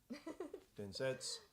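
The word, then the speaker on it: 伝説: Oh, there's no U at the end of Densetsu. Densetsu. Okay, Densetsu. That's okay, that's how it's pronounced.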